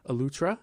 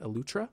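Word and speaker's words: Eleuthera: and go experience the island of utra is how they say it utra and so you know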